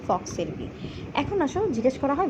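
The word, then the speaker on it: falx cerebri: থাকে বক্স কি থাকে এটার প্রোনাউন্সিয়েশনটা অনেক সময় ভুল করে অনেকে বাট এটা হবে ফক্স সেরিব্রি এখন আসো জিজ্ঞেস করা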